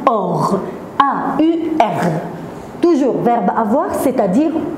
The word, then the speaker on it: aur: A-U se prononce O.